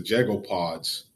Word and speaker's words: Jago: Is it Jago Pods, or how do I pronounce it?